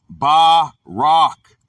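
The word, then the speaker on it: בָּרַךְ: Pronounced barak.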